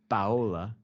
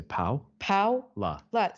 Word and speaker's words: Paola: she goes oh okay Paola is going to be too difficult so just tell them to say pow pow you see that's the thing no one's actually sure how to say my name because we've got two different ways to say it but you gotta make that's like the advanced version and then this is the intermediate version Paula to closer to